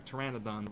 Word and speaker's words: pteranodon: nobody likes pterodactyls or pteranodons, whatever the hell they're called. The P is silent, okay?